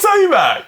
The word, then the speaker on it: Tomac: John Tomas. Of course, Johnac. I remember when Tomas did that. Would you believe? Did I say his name wrong? You did? Yeah. It's Tomac.